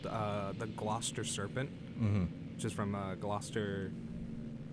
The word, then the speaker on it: Gloucester: Gloucester. I don't know. It looks like glucose meter, but it's Gloucester.